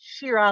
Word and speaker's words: Shira: Shira, and that's pronounced Shira like Shira, Princess of Power.